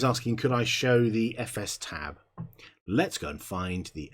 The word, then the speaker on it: fstab: I always called it FS tab. I've always called it etc FS tab. I've heard people call it fstab, which, okay.